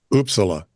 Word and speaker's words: Uppsala: Yeah, that's how they say it. Uppsala.